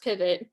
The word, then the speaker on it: PVT: co-founded with another woman pvt pronounced pivot um was started as